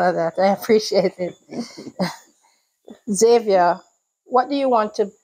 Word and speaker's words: Xavier: name is Xavier some people pronounce my name as Xavier because of the spelling spelling is had yeah my name also sounds like Xavier with a z but it's x-a-v-i-e-r-r instead of z-a-v-i-e-r so thank you for